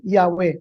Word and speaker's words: Yahweh: Sabi ng mga Hebrew scholars, ang tamang basa sa YHW ay Yahwe.